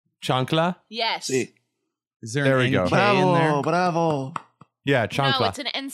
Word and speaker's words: chancla: it's called the nuclear chancla how do we pronounce that I'm sorry it's Johnny o'clock Chung CH a and C la chancla chancla yes oh yeah chocolate and C all right